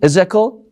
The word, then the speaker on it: Ezekiel: In English, how do you pronounce his name? Ezekiel? Yeah. Is that how it's pronounced in the Bible? Yeah, Prophet Ezekiel.